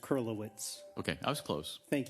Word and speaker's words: Kurylowicz: It's pronounced Kurylowicz.